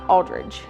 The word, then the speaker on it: Aldrich: i c h not Aldridge cuz we pronounce it with a G but it's not